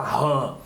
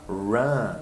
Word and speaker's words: run: Porque esse R aqui do run, ele é mais um R do interior, né, Teacher Daniel?